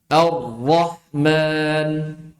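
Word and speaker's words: الرحمن: bukan ro enggak tapi ro ada penekanan pangkal lidah coba ro ru arhama arrahman.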